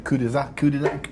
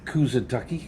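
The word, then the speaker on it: Kuşadası: We're on our way to Kudizaki. How do you say it? Kudizaki? Turkey. Yeah, Turkey. Kudizaki. How do you say it? Is it Kudizaki? Kusadaki. Kusadaki.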